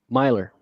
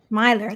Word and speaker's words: Milor: to butcher your name do you pronounce it Miler or Miller Myer Myer that's what I thought